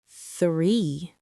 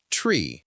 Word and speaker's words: three: This word is a classic challenge because of that th sound, right? That sound doesn't exist in Chinese, so it's easy to replace it with s or t. We often hear or tree. Yes. But here's the trick. Gently place your tongue between your teeth and push out a little air.